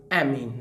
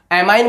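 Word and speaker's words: amine: वही होता है भाई, एमीन। ये लो जी, एमाइन बोल दो, एमीन बोल दो, आपकी इच्छा है भाई। प्योर प्रोनाउंसिएशन तो एमाइन ही होता है।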